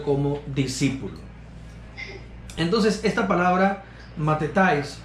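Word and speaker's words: μαθητής: Esta palabra, la 3101, en griego, se pronuncia algo como matetais, en español como matetes.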